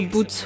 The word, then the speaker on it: Butts: it's All of a sudden, Boots.